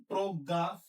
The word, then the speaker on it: প্রজ্ঞা: পরের স্লাইডে যাই প্রথমটা প এর সাথে রফল আছে তাহলে কি হবে প্র হবে প্র আর এটাতে গ দুইটা তাহলে প্রজ্ঞা এখানে নাসিক উঠে গেছে তাহলে চন্দ্রবিন্দু প্রজ্ঞা এটা যদি প্রজ্ঞা হয় তাহলে